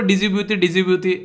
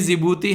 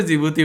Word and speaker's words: जिबूती: एक बच्चा कह रहा है एक दिन, सर ये जिबूती है, कम से कम प्रोनाउंसिएशन तो सुधार लो। मैंने कहा जी गुरुजी, प्रोनाउंसिएशन सुधर गया, आज से हम इसको जिबूती बोलेंगे।